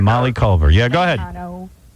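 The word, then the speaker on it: Raitano: Rayano. Rayano. That's how you say it. Is it Rayano or Ratano? It doesn't matter. Rayano has tell us. It could be like here. I say Rano. My grandmother says Rayano.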